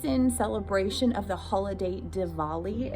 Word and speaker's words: Diwali: celebration of the holiday diwali it looks like a w but it's pronounced like a v and that is a